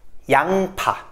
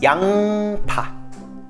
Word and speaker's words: 양파: 양파. On prononce encore une fois plus le ing. 양파.